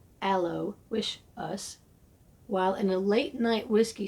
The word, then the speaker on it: Aloysius: Not too terribly long after the new sign was up, Joe Aloysius, pronounced Joe Allo Wish Us, while in a late-night whiskey stupor, was dancing with his fully loaded antique AKS in the parking lot.